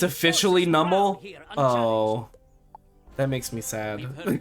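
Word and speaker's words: Numel: It's officially Nummel.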